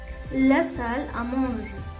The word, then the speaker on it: la salle à manger: En francés, la salle à manger. La A se pronuncia bastante cerrada, casi como una O. La salle à manger.